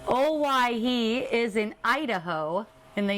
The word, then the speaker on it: Owyhee: it out please yes it's actually a take on hawaii it's another pronunciation oh why he is in idaho in